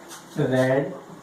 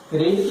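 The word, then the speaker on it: read: रीड की first form रीड, second form और third form को हम रीड नहीं बोलेंगे स्टूडेंट्स, रेड बोलेंगे। रेड, रेड, रेड।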